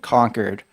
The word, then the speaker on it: Concord: saw I conquered and like conquered r as the state capital so that pun that pun really only works if you pronounce it correctly um and also one